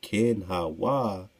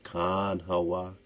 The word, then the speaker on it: Kanawha: The older, or the other brother, Ken Hawa, named after a river their father died. So Ken Hawa is how it's said in this particular source here. Ken Hawa or Khan Hawa.